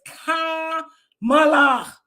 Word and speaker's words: Kamala: I said there is a very good chance Camala Harris could win what you say there's a very good chance Camala Harris can win did you mispronounce that lady name Kamala it's Kamala K not Cala it's Kam Kamala the only